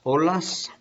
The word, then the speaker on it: olas: then the waves las olas there's no H on there it's not like you